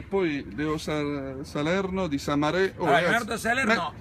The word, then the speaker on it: Samarè: Sa Quindi è nato mare, ci ha messo un Samarè, accento, abbiamo via. messo un accento su.